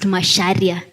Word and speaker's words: Macharia: So you mean it's written macharia but pronounced masharia.